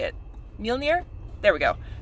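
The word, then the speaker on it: Mjölnir: damn it i know how to say it mjolnir there we go mjolnir i've got a millionaire bracelet um so like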